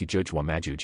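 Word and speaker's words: يأجوج ومأجوج: The invasion of the Gog and Magog, Gog and Magog pronounced Yajuj wa Majuj in Arabic.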